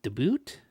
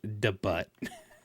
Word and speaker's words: debut: I see I see you have a uh uh you have a degree in you've you've you've dealt with the boot. He's that's pronounced debut.